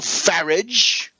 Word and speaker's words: Farage: Nigel Farage, rhymes with garbage, and Boris Johnson, the blonde pretty boy who vaunted himself as Thatcher's favorite journalist.